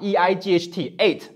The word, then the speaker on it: eight: 就好比数字 8 啊，eight，它这个 gh 呢中间是